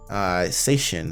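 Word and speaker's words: 精神: Seishin is how you pronounce it.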